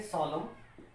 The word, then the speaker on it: solemn: SOLEMN, COLUMN, ये जो word है इसको हम पढ़ेंगे सॉलम। क्या पढ़ेंगे? सॉलम। और इसको पढ़ेंगे कॉलम। क्या पढ़ेंगे? कॉलम। तो हम ये देख रहे हैं कि इसमें एन साइलेंट रखा जा रहा है, इधर भी एन साइलेंट रखा जा रहा है।